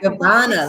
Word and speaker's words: Gabbana: Gabbana, like Dolce and Gabbana. Oh, well, of course. So fancy, just like your spa, girl. Let's go. Tell me about Gabbana. Oh, my goodness. I got Gabbana when I was 18, 19.